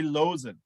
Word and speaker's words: Loosen: the doctor losing losing is that the right pronunciation i was saying loosen earlier losing it has the villa wolf label